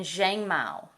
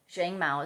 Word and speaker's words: Xiangmao: Some other oils, and you can make whatever combinations you want, but start looking into Ravensara, frankincense, lavender, manuka, and zhangmao. Zhangmao is spelled Xiangmao. Zhangmao.